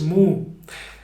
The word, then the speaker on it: mu: The new word is moo. Moo, like the cows, but it's just a certain way of saying muy.